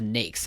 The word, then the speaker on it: NAICS: street number site the naics site or nakes is that how you say it that's how they said on the website you pronounce it as a nakes and they will get very mad if you don't say it that way at the nakes website